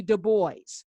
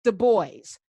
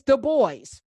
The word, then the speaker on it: Du Bois: uh intellectual idols w.e.b du bois it's the boys not dubois he was not french and actually w.b du bois tells you how to say his name it's the boys and you can google